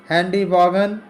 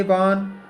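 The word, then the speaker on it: Vaughan: या sir Thomas brown, Henry बॉगन या Henry वॉन बॉगन पढ़ते हैं कुछ लोग, कुछ वॉन पढ़ते हैं, तो जीएस साइलेंट हो जाता है, तो यहाँ हेनरी वॉन पढ़ेंगे।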